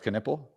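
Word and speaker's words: Knueppel: and how you know how his name is pronounced though what canle oh it's canle okay yeah so I had that Walter Clayton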